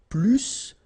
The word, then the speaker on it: plus: in that case, remember, plus will be with the S. So pronounce it plus que.